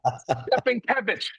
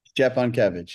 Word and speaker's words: Szczepankiewicz: Stepankiewicz. Stepankiewicz? Am I close? Szczepankiewicz, yeah.